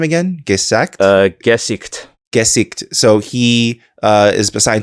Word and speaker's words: Gesicht: Gesicht.